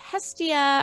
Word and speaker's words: Hestia: of the ancient greeks uh i would say hestia are we close because of that sound absolutely